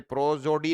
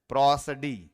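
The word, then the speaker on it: prosody: ये प्रोजोडी नहीं है, इसका जो प्रोनाउंसिएशन वो क्या है, प्रोसडी। ये जो है ये प्रो है, ये ए पढ़ा जाएगा, प्रोसडी।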